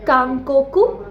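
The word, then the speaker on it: 韓国: Korea को हम बोलेंगे काकोकू काकोकू काकोकू में कोई भी लॉन्ग साउंड नहीं है थाईलैंड ताई ताई चाइना चूगोक चूगोकू इसमें लॉन्ग साउंड यूज़ होती है।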